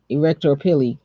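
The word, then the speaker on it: arrector pili: case it's not putting it's pronounced pili erector pili see I'm just saying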